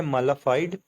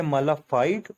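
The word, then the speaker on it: mala fide: तो जी हमारे पास next word आ जाता है मालाफाइड। तो इसकी भी दो प्रोनाउंसिएशन हैं, एक है मालाफाइड और एक है मालाफाइडी। तो ये भी बिल्कुल ऐसी, एक ब्रिटिश और एक अमेरिकन है।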